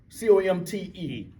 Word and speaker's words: Comte: Auguste Comte.